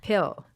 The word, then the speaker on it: pill: That it's gonna peel. What? How do you say it? Pill, Peel. pill. Yeah.